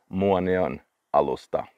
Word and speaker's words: Muonionalusta: It is a Finnish name, and for me it's easy to pronounce, but some people say it's the hardest name in the world to pronounce. Muonionalusta.